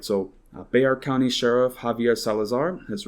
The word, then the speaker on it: Bexar: say so the uh they are which is pronounced b-e-x-a-r so it's you know it looks like bexar but pronounced they are in spanish because san antonio is a very hispanic region right so bayar county sheriff javier salazar has written a letter